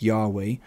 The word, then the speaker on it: Yahweh: believe that the name of god was originally pronounced yahweh in hebrew and if if um if it's